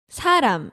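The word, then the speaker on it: 사람: you say a person you can say saram in korean it sounds similar to the word sarang right oh yeah right yeah if you say with the sound at the end it is love yeah that's love yeah and if you say with an m sound at the end that is a person a person so how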